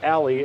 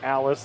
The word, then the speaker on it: Allie: like Elise rudder believe I heard someone say her name is Allie and I was calling her Alice the entire first-round matchup so